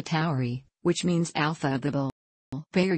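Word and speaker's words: Tauri: Taurus the Bull is designated alpha Towery pronounced alpha Towery which means alpha Bible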